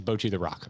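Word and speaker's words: Bocchi the Rock: Is it Boki? If there were correct pronunciations earlier, I missed it.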